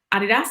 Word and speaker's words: Adidas: And then, yes, I landed at Adidas or Adidas, depending on where you're from and how you pronounce it, really focusing again on